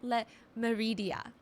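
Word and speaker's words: Le Méridien: It's called Hotel Le Meridia. I'm trying to pronounce it in the French way.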